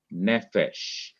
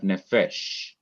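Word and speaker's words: נפש: here is another example the word nephesh this is noon SE that's one syllable then the final syllable is is um f p h e or Fe and then Shin so you have nephesh and here you have an open syllable consonant followed by vowel and in the Hebrew you'd see the accent over this open syllable the accent usually comes on the last syllable but if it comes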